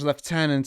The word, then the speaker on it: lieutenant: all he talked about I'm aware of the British left tenant as opposed to the more American Lieutenant Canada tends to go to get a weird mix of British and American Tendencies and mostly pronounce it L I think you're supposed to mean that you pronounce it in American way so Lieutenant because in the context